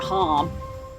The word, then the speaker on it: Haam: I think they pronounced it harm, but still.